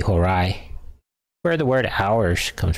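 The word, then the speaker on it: Horae: diphthong in Latin and whenever you have a e as a diphthong it's phonetically an I so would be Hirai where the word hours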